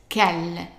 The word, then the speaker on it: quelle: So the U here is silent, and the E here is pronounced as an A. So how would you pronounce the whole word? Right, quelle, quelle.